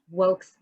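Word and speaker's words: WAKE: of color in cannabis uh pronounced woke so w-a-k-e um we are founded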